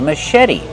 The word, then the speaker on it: machete: Put the stress on the second syllable and make the vowel e like red in bed.